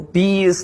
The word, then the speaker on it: B.I.: Yeah, well, B is like this B and I is like this. This is my eyes.